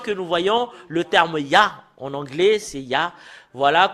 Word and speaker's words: Yah: nous voyons le terme Yah. En anglais, c'est Yah. Voilà comment l'écrit Yod, He. Et le fait de lire le Yod et le He, c'est Yah en langue hébreu.